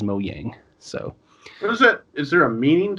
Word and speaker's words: Mojang: game minecraft and also it's either Mojang or mowing the how you want to pronounce that but I think it's like the Swedish pronunciation is mo yang so is there a